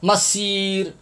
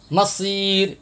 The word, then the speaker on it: مصير: یہ صاد کے اوپر آپ گول دائرہ دیکھ رہے ہیں، یہاں پر اکثر حضرات سین پڑھتے ہیں، سیٹی کی آواز نکالتے ہیں، سین پڑھتے ہیں. مسیر مصیر، یہ تلفظ بھی آپ دیکھ لیں.